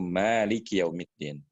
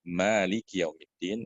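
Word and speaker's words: مالك يوم الدين: Jadi, ada yang membacanya panjang, " Maaliki yaumiddin," ada pula yang membaca "Maliki yaumiddin." Jika kita membaca "Maaliki yaumiddin," artinya pemilik. Jika kita membacanya secara singkat, "Maliki yaumiddin," maka artinya adalah Raja Hari Kiamat.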